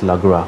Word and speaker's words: Lagras: So what you'll want to do is make your way over to Lagras, however you pronounce it. I think it's Lagra.